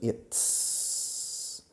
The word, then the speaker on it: it's: Fijaos en la pronunciación. It's. Es un sonido complicado que no tenéis en castellano. It's. La lengua detrás de los dientes frontales, donde los dientes se unen con la encía.